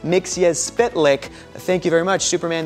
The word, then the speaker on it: Mxyzptlk: more like it oh my gosh and it's pronounced mix as spit lick thank you very much Superman the animated series